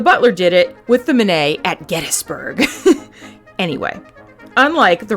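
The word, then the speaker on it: Minié: Most Americans pronounce this round as mini, like the mouse. But the guy who invented it was French, so Manet is probably more correct.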